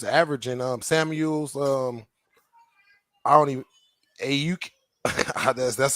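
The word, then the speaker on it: Aiyuk: Yeah, because he got 3 receivers averaging Samuels, I don't even Ayuk. That's how you say his name, and Jennings both. I forgot how to pronounce his name.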